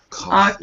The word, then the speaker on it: coffee: I believe it's a cof machine too huh coffee coffee don't forget that last syllable coffee okay coffee coffee okay